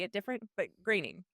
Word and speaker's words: Groening: I always say his name wrong. How do you say his name? Matt Groening?